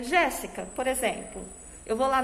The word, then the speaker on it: Jéssica: Qual foi a sílaba mais forte? O que mais saiu da minha boca? Jéssica. Não foi o Gé? Então significa que o Gé vai ter o acento agudo.